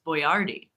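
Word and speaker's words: Boyardee: a little bit like Chef Boyard who we just found out the proper pronunciation of is boardi so if you've ever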